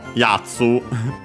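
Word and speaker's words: 奴: Again, the name of that character, possessive particle no, Yatsu. Guy, fellow, accent on the first mora.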